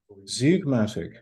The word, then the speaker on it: zeugmatic: Yeah, perhaps I don't know how to pronounce it. Z-E-U-G-M-A-T. Zeugmatic, right?